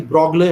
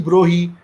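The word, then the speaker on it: Broglie: ही एक बंदा डी ब्रॉगले, हम तो इसको डी ब्रॉगले कहा करते थे, कल परसों मैं किताब देख रहा था उसमें डी ब्रोही लिखा हुआ था, चलो हम ब्रोही प्रोनाउंस कर लेते हैं।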